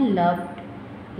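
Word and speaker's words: loved: इसको हम प्रोनाउंस करते हैं लव्ड, लव्ड। तो यहाँ पे वैसे भी इसकी एंड पे साउंड डी ही आ रही।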